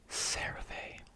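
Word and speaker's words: CeraVe: Cher this one in the American pronunciation uh it would be sarave at least that's how I say it.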